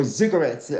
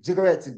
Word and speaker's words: ziggurats: and understanding of the ziggurats, or ziggurats, I should pronounce.